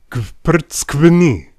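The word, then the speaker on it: გვფრცქვნი: it with me now, kvrtskvni. Yes, that is one single syllable. It means you peel us, and it starts with you pronouncing a bunch of consonants before you get any relief with that vowel.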